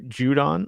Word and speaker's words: Judon: it wrong before that but judon okay matthew judon not judon it's not a capital d-o-n i don't understand that